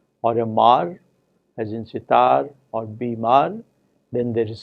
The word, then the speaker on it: sitar: In the word sitar, even words such as bimar, it is the final syllable which is stressed, tar and mar.